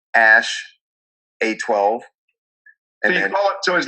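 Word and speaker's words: Æ: a a and then it looks like an e but it's pronounced ash and a 12 instead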